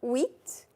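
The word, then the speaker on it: huit: H is silent. Wheat. Wheat.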